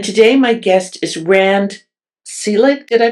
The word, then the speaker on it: Selig: my guest is Rand Celig. Did I pronounce it right? Yeah, I did. Some of the family members say Selig and I tend to say Saleig like s a y